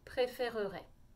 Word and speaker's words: préférerait: vous préféreriez il préférerait c'est très long effectivement il ya beaucoup de syllabes mais c'est comme ça qu'on doit le prononcer maintenant dans la vraie